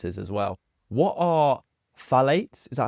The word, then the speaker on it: phthalates: What are phthalates?